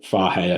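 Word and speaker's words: Fage: yogurt So like um total fare I think is how you say it f-a-g-e or skya skier I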